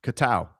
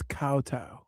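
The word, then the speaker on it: kowtow: Kattow. It's cowtow.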